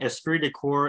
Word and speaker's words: esprit de corps: Angela asks, do you believe in esprit de corps and true morale? Did I pronounce that right?